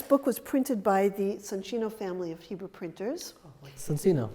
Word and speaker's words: Soncino: I noticed that you're pronouncing it Soncino. I know, that's the correct Italian name. And not Soncino. Yeah. Soncino is the Soncino is the Americanized way of doing it.